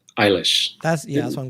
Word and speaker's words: Eilish: billy elish how do you say her name eilish that's yeah that's what i'm going with yeah